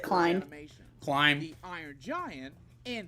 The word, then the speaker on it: Klein: If they put Klein or Clean, I don't know. Because these fellas have their hands in working on. You're supposed to pronounce it Klein.